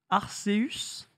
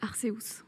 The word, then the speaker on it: Arceus: J'ai toujours dit Deus, Arceus. Dans le trailer japonais, il dit Arceus. Et j'ai eu bien le seum. Ça s'écrit comme ça en japonais, mais après, je pense que chacun le prononce un peu comme il le voit.